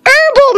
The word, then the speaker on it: herbal: was like it says herbal medicine it says herbal medicine the H is silent just like the J